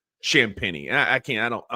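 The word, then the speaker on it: Champagnie: a hard time that his last name is spelled basically like Champagne, but you pronounce it Champini.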